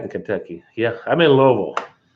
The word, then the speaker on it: Louisville: Louisville. That's for the people from out of town. That's the way they say it. Louisville. You got to say it like you got a mouthful of marbles.